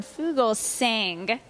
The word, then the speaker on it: Fugelsang: with cgtv and I am here with John Fugal sing you got it get it I was like